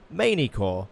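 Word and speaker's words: Magny-Cours: it is of course magni core the French circuit circuit or as Andre meirak keeps telling me to say it manicor or manicor without pronouncing the G but I refuse I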